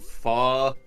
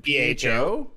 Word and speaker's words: pho: I went to the Texas State Fair last weekend and got some deep-fried crab balls, some deep-fried pho, and loaded fries pizza.